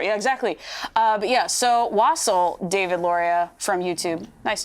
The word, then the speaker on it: wassail: But yeah, so Wassel, David Loria from YouTube.